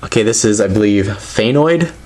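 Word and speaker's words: Fangoid: it's pyrus obviously okay this is I believe thanoid it's one of the newer ones I think it's spelled f a n g o i d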